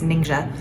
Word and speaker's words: Ningxia: ninja ninja i mean the pronunciations are all over the place but i think the closest is ninja is a province in